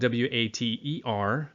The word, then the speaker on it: water: different sound for example the word water it's spelled w-a-t-e-r but we don't say water we say water we use a D sound and one of my